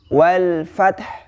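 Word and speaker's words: والفتح: Maka di situ diwaqafkan atau disukunkan huruf ha-nya. Namun tidak dihilangkan tapi tetap dibaca, ya. Bagaimana cara membacanya? Wal fath, wal fath, wal fath, ya.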